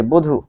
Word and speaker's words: বধূ: এরপর আমরা আরেকটি উদাহরণ দেখব, যে বধূ।